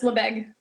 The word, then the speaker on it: Lebesgue: So if anybody does want to ask you about Lebesgue Yeah. measurements, is that how you pronounce it? Lebesgue? Yes, Lebesgue.